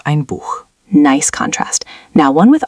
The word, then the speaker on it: Buch: Now, ich möchte auch ein Buch. I would also like a book. Notice auch and Buch have the hard ch. Ich möchte auch ein Buch.